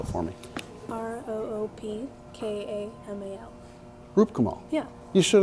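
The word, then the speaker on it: Roopkamal: roger mclean okay i didn't catch it so spell it for me r-o-o-p-k-a-m-a-l roop kamal yeah you should have said that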